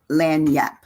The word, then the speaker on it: lagniappe: word is Lan Lan lanap and it sounds like l a n y a p that's the way I